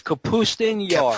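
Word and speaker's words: Kapustin Yar: It's Capustun Yar. Capustun Yar. Okay. Much better pronunciation than what I just destroyed.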